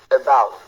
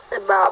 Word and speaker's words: about: Et donc, ce mot se lit about et non about, about.